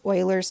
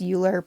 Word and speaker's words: Euler: It's also referred to as Euler's number. I know you want to pronounce that as Euler, but it's pronounced as Euler.